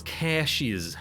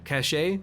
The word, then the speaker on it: caches: to go to those cashes cachet sorry I'm pronouncing it wrong now we'll go right reduces